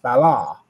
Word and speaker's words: Bala: But if you look up the original pronunciation, it's pronounced Bala, which sounds a lot like Allah.